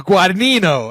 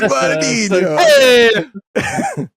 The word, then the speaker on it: Guadagnino: As Luca Guadagnino. Hey. Oh, Luca Guadagnino.